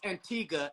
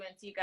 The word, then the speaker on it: Antigua: to Antigua like five times so it is pronounced Antigua and not Antigua no oh please don't they